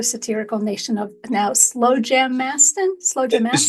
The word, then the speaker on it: Slowjamastan: Slowjamastan? Yes, you're close. It's Slowjamastan is the way that is pronounced.